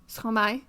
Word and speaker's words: Stromae: Stromae.